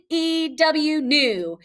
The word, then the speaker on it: knew: I would say it K-N-E-W, new.